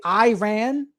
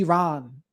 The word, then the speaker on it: Iran: If you hear someone say Iran, they don't know how it's pronounced. It's supposed to be Iran, so you know.